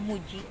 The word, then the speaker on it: Muji: price France Ayan 995 Ayan mga toys Ma'am pagpronounce po nito muji muji muji Thank you muji yung pagpronounce muji